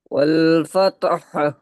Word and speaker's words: الفتح: ওয়াল ফাতহ ফাতহা হবে না, হালকা ফাতহ এই হাটা, মানে যে পুরোটা উচ্চারণ করছি এর হাফ উচ্চারণ হবে, হা এর হাফ উচ্চারণ হবে।